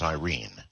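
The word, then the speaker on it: Airyn: her real name is Irene Irene so yeah it's actually pronounced Irene here pronunciation in in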